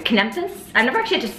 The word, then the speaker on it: Kepnes: Kepnes? I've never actually had to say your last name out loud. You just really butchered that. Kepnes.